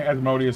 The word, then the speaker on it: Asmodeus: Some people will prefer like I think Asmodeus is like the most common pronunciation of it.